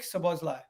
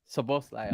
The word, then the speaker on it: Szoboszlai: Also, controversial question, but how do we pronounce this player's name? Because I'm like, Dominic Szoboszlai. Szoboszlai.